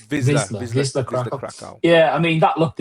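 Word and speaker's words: Wisła Kraków: So I think the first game against how do you pronounce it? Wisla Krakow. Wisla Krakow.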